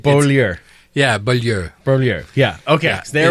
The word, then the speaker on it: Beaulieu: Joined now by Jordan Beaulieu.